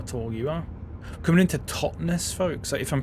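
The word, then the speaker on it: Totnes: If I'm pronouncing it correctly, this is where someone it's like a stupid British name and it's pronounced like tons or something like that. You know, pronounced the second T for some reason.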